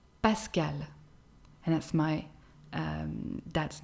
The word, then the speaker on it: Pascal: polino a mixed name pascal pascal which is pronounced the same way for the feminine version pascal and that's my dad's